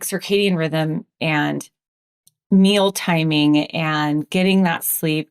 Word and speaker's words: circadian: And you mentioned a few times when you were talking about the circadium, is that how you say it? Circadian.